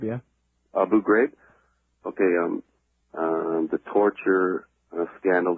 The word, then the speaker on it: Abu Ghraib: Iraq now or Afghanistan and everything how to pronounce that person's name Abu are you brave yeah Abu Ghraib okay I'm the torture scandal that's going on